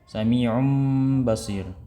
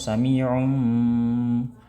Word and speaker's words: سميع بصير: Nah, contohnya tadi ya, diambil contoh yang tadi oleh Syekh, Sami'um Basir ya, bukan Sami'um, dilebih-lebihkan. Nah, padahal hanya cukup dua harokat saja gitu.